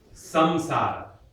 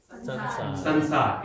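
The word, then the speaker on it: saṃsāra: So, samsara. Say samsara. In Hindi, what do people generally say? Sansar. It becomes a na, right?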